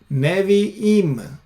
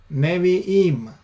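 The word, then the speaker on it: נביאים: And the plural form of Navi would be Nevi'im. Nevi'im. Again, Chirik Yod Mem. And notice the schwa instead of the kamats, because the stress is on the last syllable, therefore it changes.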